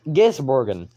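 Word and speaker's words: Gisbergen: how it sounds anymore it's giz borgan it's not rocket science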